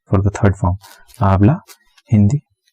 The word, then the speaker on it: hindi: H-I-N-D-I, Hindi. H is silent, I-N-D-I, Hindi.